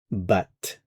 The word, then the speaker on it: battent: And then finally, our last form, il elle battent. Battent. Notice you are There is a t sound here. You are pronouncing the t sound.